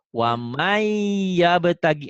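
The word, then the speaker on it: وَمَن يَبْتَغِ: Ditulisnya waman. Waman yabtagi. Dibacanya tuh wamai. N-nya ada nggak? Nggak ada. Nggak ada. Itu namanya idgham. Cuman di idgham itu nanti ada yang diidghamkan disertai dengan dengung, ditahan, ada yang enggak. Ini idgham biguna itu dengan dengung dan ditahan. Waman yabtagi. Jadi dibacanya wamai, ditahan, dengung.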